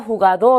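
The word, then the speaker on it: jugador: 끝나는 자음으로 끝나는 단어죠 자 그러면 끝에서 첫 번째 모음의 강세 오기 때문에 자 여기에 강세가 오는 단어죠 자 그러면 후 가도 라고 읽어야 겠죠 뜻은 우리 선수 라는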